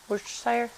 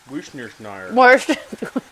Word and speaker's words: Worcestershire: How do you say it? Worcestershire? Worcestershire. So many different ways to say it.